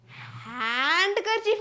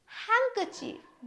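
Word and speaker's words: handkerchief: हैंकर चफ हैंकर चफ यहां पे ध्यान दीजिए हैंड करर चफ नहीं हैंकर चफ डी साइलेंट है क्या आएगा हैंकर चफ इस एग्जांपल का मतलब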